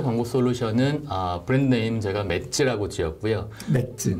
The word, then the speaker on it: MADS: 네, 저희 첫 번째 광고 솔루션은 브랜드 네임 제가 맷즈라고 지었고요. 맷즈. 네, 맷즈라고 지었고 MADS입니다. MADS. 네. 그 맷즈인가요, 발음이? 저는 매즈라고 해야 될 것 같은데. 조금 더 강하게 읽으려고 저희가 맷즈라고 부르고 있고요.